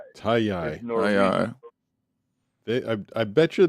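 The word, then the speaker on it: Taji: Uh, Tayi. T A Ji. The J is pronounced with a Y. Tayi.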